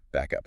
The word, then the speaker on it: backup: If you need help, you stress both syllables.